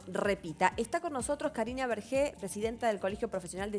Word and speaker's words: Bergé: Está con nosotros Karina Bergé, presidenta del Colegio Profesional de Psicopedagogos. Espero estar pronunciando bien tu apellido.